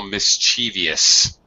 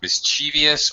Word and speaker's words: mischievous: You said when we were students we were a little mischievous. Yeah. All right. Okay. Really, this is pronounced two different words: mischievous or mischievous. Mischievous. Sometimes mischievous. Really, I think both pronunciations are acceptable.